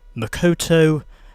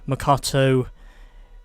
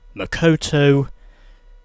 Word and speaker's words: Makoto: Also, if you didn't get me before, well, basically the name of the Tokyo Champ is officially pronounced Makoto, not Makato. If you noticed me making any mispronunciations, it's in fact pronounced Makoto.